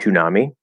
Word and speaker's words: Toonami: It was called Toonami. And that's exactly how we would pronounce it. It's like tsunami, but with a T instead of an S. The thing about the word tsunami, in Japanese, it's su, su, su.